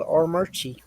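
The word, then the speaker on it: Armuchee: place in between uh Rome and Calhoun called AR merie I'm not even GNA guess how is it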